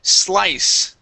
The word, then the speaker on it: slice: Uh let's go to the word slice. Instead of slice, this word here is slice. Slice. Okay. Slice. Instead of saying e slice and adding an e there.